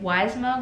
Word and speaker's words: YSMHA: have a meeting with weisma which is a club that I've joined this semester it's ysmha but it's they pronounce it like y smile and it stands for